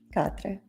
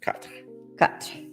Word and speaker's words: Quatre: Quatre. Very nice. Quatre. Quatre by Boucheron.